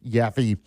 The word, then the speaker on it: Yaffee: Yaffee or Instagram at Yaffee Live. And no, it's not spelled with a J. It's a Y, Y-A-F-F-E-E.